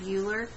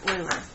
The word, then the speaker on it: Euler: long time ago and he's dead now Leonard uhler was his name boiler yes oiler excuse me leonhard euler and you spell his name like this and